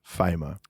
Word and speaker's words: Fijma: So it's a little bit different, but yeah, it's Fijma. So just think about Virgil van Dijk and it will go well.